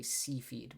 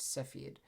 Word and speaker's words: cepheid: uh not Mira sorry cepheid I believe is the pronunciation of them I know I tend to say sea feed but it's cepheid um those variables typically